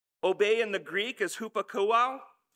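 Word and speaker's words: ὑπακούω: Obey in the Greek is hupakouo, upakouo. I had to phonetically write it out so that I would say it right.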